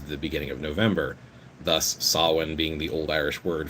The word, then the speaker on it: Samhain: If you look at the term, a lot of people practice what's called Samhain. Some people pronounce it Samhain.